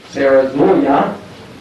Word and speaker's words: Sarah Zulia: And so to present the senior awards, we have from the cheerleaders, Sarah Zulia, as she told me, it's the correct pronunciation, Sarah.